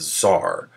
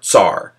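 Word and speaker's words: tsar: it spelled TS R tar because it's pronounced with that kind of T sound but he he had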